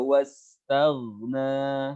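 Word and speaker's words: وَاسْتَغْنَى: Wa amma man bakhila wastaghna. Hati-hati pas di tagh jangan terlalu bablas. Tagh, bibir kita jangan ditarik ke belakang. Kalau ke belakang wastaghna, taghna ya. Huruf tebal.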